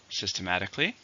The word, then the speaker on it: systematically: to this problem finally systematically same meaning but it's an adverb how many syllables five stress is still on the fourth syllable systematically you should approach